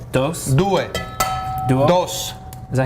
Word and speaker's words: due: Due. Duo? Dos. Is that how you say it in Italian? Duo? In Italian it's due.